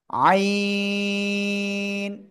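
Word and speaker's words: عين: থেকে উচ্চারিত হয় এই আইন অক্ষরটা উচ্চারণ হবে গলার মধ্যখান থেকে চার আলিফটা নিয়ে উচ্চারণ করতে হবে আইন আইন ঠিক আছে ওকে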